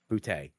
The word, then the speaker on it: Boutte: It's like Boutee. He's a third round. Boutte. Yeah. It's French. It's French.